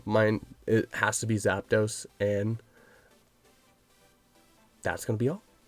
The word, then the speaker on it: Zapdos: reason as a kid i always added an a i always for some reason thought like zapdos was a three syllable word and not a two-syllable one so for some reason